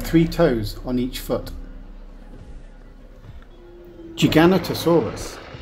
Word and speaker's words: Giganotosaurus: toes on each foot Giganotosaurus is pronounced like this jig aoo s r it has six syllables